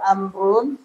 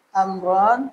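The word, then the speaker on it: عمرو: Jadi ini cuma membedakan aja. Dia nggak ada harokat ini. Sukun. Ya, itu salah. Makanya dibuang. I'rabnya tetap mufrad ya, tetap. Ya, ini tetap sama. Ini tetap amrun, amron, amrin. Tetap bacanya gitu. Ini nggak dihitung nih, sama aja nggak ada. Cuma sebagai tanda aja. Membedakan Umar dengan Amr.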